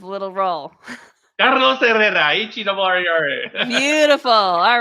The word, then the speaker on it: Herrera: LinkedIn, Carlos Herrera, Herrera. You roll your R's so beautifully. You should say that again with a little roll. Carlos Herrera, Herrera.